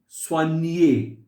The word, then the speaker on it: soigner: O-I, when O and I come together, they are pronounced as va. Wa. Va. Wa. Va. And when G and N, they come together, after G there is a N, it is pronounced as near.